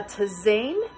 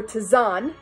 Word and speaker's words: tisane: No, it is called a tisane or tisane, depending on one's pronunciation.